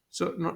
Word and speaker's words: SOH: So notice that the first three letters is spelled SOH, which is so.